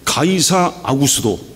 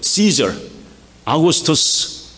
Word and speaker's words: 가이사 아구스도: 이때 가이사 아구스도, 이건 발음을 헬라어 발음으로 했기 때문에 그런데 이거는 누구예요? 시저, 아구스투스 케이사르, 시저 아구스투스죠.